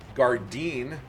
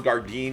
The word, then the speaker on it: Gardin: sax or interceptions uh Ron gardeen I've been pronouncing his name wrong and uh thank you to the viewer who corrected me on his the pronunciation of his name uh Ron gardin he also uh collected